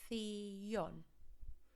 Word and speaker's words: televisión: And we need to pronounce every single letter, so theon.